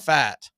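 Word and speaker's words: Pfaadt: Texas Ranger Rangers and his last name is spelled p-f-a-a-d-t but it's pronounced fat and he's making his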